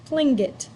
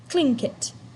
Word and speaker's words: Tlingit: Garvey said he was a Tlingit Indian, pronounced Tlingit, proudly with a clicking of his tongue, as if saying Tlingit.